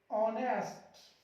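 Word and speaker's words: honest: देखिए इसको पढ़ेंगे हम लोग आवर, एच साइलेंट हो जाएगा आवर, ऑनेस्ट, honour, air, एयर, ऐसे ही ऑनरेबल।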